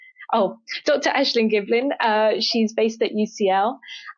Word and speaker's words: Ashling Giblin: it's uh did I say her name Dr ashleen Giblin oh Dr ashin Giblin uh she's based at UCL um and she